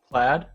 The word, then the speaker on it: Plaid: but without the rigor plaid plaid that's it we always want to say played over here in the UK yeah